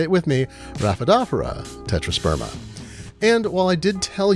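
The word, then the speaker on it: Rhaphidophora tetrasperma: as noted a horticulturist told me it's actually pronounced raphaedophera tetrasperma now i pronounce it a different way i'm not going to perpetuate that so say it with me raphaedophora tetrasperma and while i did tell you the sun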